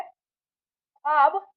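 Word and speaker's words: ख़्वाब: अब इसका उच्चारण जो है वो गजल होगा। ठीक है? और उसी तरह से यह ख्वाब नहीं ख्वाब होता है तो हम यहां पर नुक्ता लगाते हैं।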